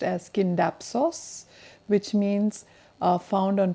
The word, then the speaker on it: Scindapsus: It's actually pronounced pronounced as Scindapsos, which means uh found on tree trunks I believe, and Pictus, which means painting.